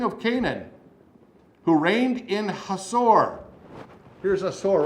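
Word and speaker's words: Hazor: of jaben king of canaan who reigned in hassour here's a sore right up here north east of the sea of galilee hot sore actually is the way he pronounced that in hatzor cicera the commander of the army was based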